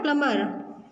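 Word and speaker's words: plumber: प्लम्बर. Okay, तो इसमें क्या है, बी साइलेंट है.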